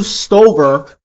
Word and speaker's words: Stover: Even Matthew Stover, is it pronounced Stover?